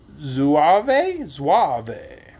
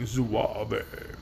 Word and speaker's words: zouave: like those of a zouave. Z-O-U-A-V-E. You tell me how to say it. We're going to go with zouave.